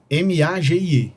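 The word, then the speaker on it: Magie: Aí a pronúncia, tem gente que chama de Meg, tem gente que chama de Magi, enfim. Mas eu chamo de Meg aqui, que é o que a galera chama lá.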